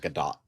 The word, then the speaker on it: Gadot: Yeah, last pronounces Gal Gadot pronounces it Gadot. She pronounces it Gadot.